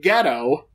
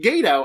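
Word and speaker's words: Gedo: it's Chris Jericho versus Gado whom they entirely mispronounced his name the entire match calling him ghetto and even when they asked for the correct pronunciation mic today told them incorrectly ghetto it's pronounced Gado as any new Japan fan knows and guys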